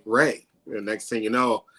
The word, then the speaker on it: Ray: cup I usually say Ray is Ray like the sunshine and so it kind